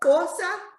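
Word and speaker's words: Xhosa: yeah it's okay so it's spelled x-h-o-s-a and the x is a click so you have to go fosa all right so it's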